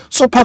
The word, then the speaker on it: SOFR: 그 다음에 우리가 봐야 될 거는 소파 금리입니다. 소파 금리. SOFR인데 읽기를 소파라고 읽어요. 소파. 우리 뭐 마루에 있는 소파, 뭐 거실에 있는 소파 이런 식으로.